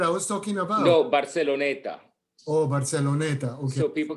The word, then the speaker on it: Barceloneta: No, Barceloneta. Oh, Barceloneta. Okay. So people can look it up. Barceloneta is Barceloneta. Barceloneta, like Barcelona, but ETA at the end.